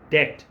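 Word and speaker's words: debt: ठीक है, DEPTH, डेप्थ, डेट, ये जो कर्जा है ये डेट है, इसमें बी साइलेंट है।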